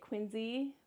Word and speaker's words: Quincy: And I know that people around here say it Quinzy, but to me it's always it's going to be Quinzy. It's just that's how you say it.